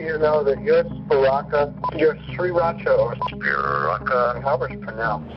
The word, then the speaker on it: Sriracha: to know that your Sriracha Powers you omit the r you just say three very distinct syllables there's a little break in between each one not three lashes but